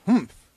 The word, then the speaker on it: humph: If you're reading this story aloud, please pronounce humph exactly as it is spelt, for that is how he said it.